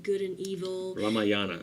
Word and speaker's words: Ramayana: Ramayana, am I saying that right? Yeah, you're actually saying it right.